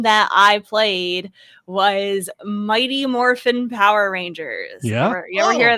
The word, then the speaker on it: Morphin: say it like that because it's Morphin there's no G Morphin Morphin what's is